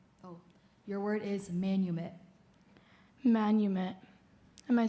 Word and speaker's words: manumit: Manumit.